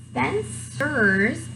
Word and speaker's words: Spencer: Grace Spencer's, do you notice another C? Spencer, hard C or soft C? Very good, soft C.